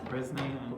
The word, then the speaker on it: Bresnahan: Is that how you pronounce it? Bresnahan, yes.